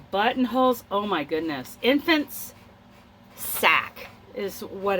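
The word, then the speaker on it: sacque: called a crocheted Sac s-a-c-qu I'm pronouncing it Sac please correctly that's Jill we got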